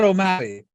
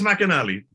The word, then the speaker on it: McAnally: Mr Ott Mr Angus oh it's not O'Malley no no that's all right Angus mcanally Matt Canali I keep saying it wrong I don't know why even I I even like watching takes back and going why do I keep saying O'Malley because it's the O because I'm so